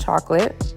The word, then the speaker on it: chocolat: All right, this next one is called Chocolate, and I'll take it. Not mad at it. The French pronunciation of chocolate is chocolat, but that's spelled different, and they spelled it just straight up chocolate.